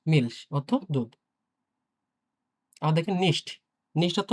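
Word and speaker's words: nicht: এখানে দেখেন আপনার কিন্তু হচ্ছে খ এর মতো উচ্চারণ হয়নি, হ্যাঁ? মিলস, মিলস অর্থ দুধ। আবার দেখেন নিস্ট।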